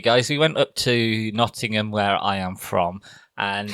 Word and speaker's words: Nottingham: to not in them the one thing about nottingham is we don't pronounce the tease so you can you